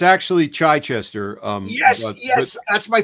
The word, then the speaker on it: Chichester: to John's longbox we're here live with chitester how hello John hello I'm great it's it's actually chiester um yes yes that's my thing I mispronounced